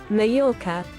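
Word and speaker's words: Mallorca: How do you pronounce Mayorca? I I say Mayorca. Don't tell me there's a different pronunciation for Americans. Mayora.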